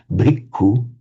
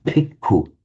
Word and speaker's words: bhikkhu: The Thais find it impossible to say bhikkhu. If you hear a Thai pronounce it, you'll say bhikkhu with a p.